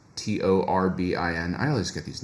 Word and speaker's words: Torbin: But I think Torbin, I mean, I read it as turbine. This is why I keep mispronouncing it. It's not Turbine, it's Torbin.